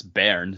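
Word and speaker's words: bairn: I've decided to give your baby is B A I R N. And that's Baron.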